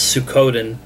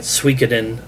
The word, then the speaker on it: Suikoden: And it's, and I'm going to probably mispronounce it, but I'm going to pronounce it the way that I've always pronounced it, and that's Suikoden, but I've heard people calling it Suikoden.